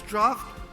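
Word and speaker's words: draught: deep deep draft of cold water so the pronunciation is draft although it is spelled like Dr a GT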